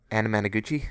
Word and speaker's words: Anamanaguchi: Second one they had I know the name, but I can't remember how to pronounce it. Anamanaguchi?